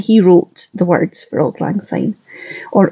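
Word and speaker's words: Auld Lang Syne: wrote the words for Old Lang sign or old man's eye as my husband my South African husband thought was how you pronounced it when he was still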